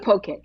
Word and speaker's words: poke: feel when you hear people mispronounce poke they they say pokey pokey I'm going it's a poke it's a Hawaiian word so two things two